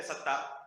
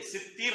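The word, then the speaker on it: ستير: بہت سارے لوگ ستار کہتے ہیں، کہتے نہیں کہتے ستار؟ آپ لوگوں نے سنا ہوگا. بہت سارے لوگ نام بھی رکھتے ہیں عبد الستار. ستار اللہ تعالیٰ کا کوئی نام نہیں ہے، ستیر نام ہے.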